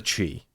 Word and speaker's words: Chee: Enter the Chee. Okay, apparently it's pronounced Che?